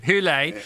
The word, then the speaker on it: Hole: Correct pronunciation is. No, this is really good. Hule.